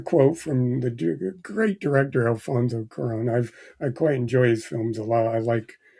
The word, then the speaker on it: Cuarón: So there was a quote from the director, who's sorry about I'll get Jonathan to pronounce the man's name. It's Alfonso Cuarón. Cuarón, Alfonso Cuarón, yeah.